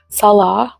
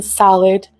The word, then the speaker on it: Salah: They mispronounce my Syrian husband's name, Salah, which means prayer in Islam, by the way. They call him Salad right in her thumbnails.